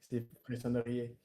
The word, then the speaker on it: frissonneriez: Кстати, вот это, когда ты имеешь две согласных, оно читается типа как «се», Да, а не как «зе». Фрисонерие.